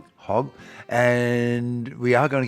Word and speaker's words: Hogg: be talking about with now, what's the correct pronunciation? Professor Hog Hog and we are going to get on to the biodiversity thing.